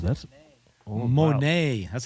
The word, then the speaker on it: Monet: I'll Ooh, pronounce that's it. wow. Monet.